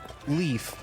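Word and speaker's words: Liif: How about just leaf, but it's instead of being spelled with an E and an A, it's L-I-I-F. Leaf. Ooh. Or Lift? no, it's leaf because there's two I's.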